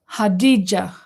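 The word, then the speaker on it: Khadija: Hadija. Like the G sign in Parmigiana. Hadija. Hadija. Am I saying it right now? Hadija. G, like a G.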